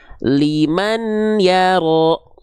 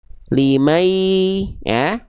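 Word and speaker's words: لِمَنْ يَرَى: Nah, di sini kalau kita baca tanpa hukum tajwid, dibacanya liman yaro gitu. Kalau nggak pakai hukum tajwid. Tapi kan di sini pakai hukum tajwid ya, maka dibacanya tidak liman yaro lagi teman-teman, tidak liman ya, tapi bunyian ini dileburkan ke huruf ya, limai ya, jadi udah nggak ada bunyiannya lagi.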